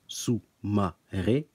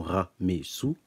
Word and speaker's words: Soumaré: Ma et non Me, que l'on doit prononcer son nom de naissance Sou Ma Ré et non Ra Me Sou.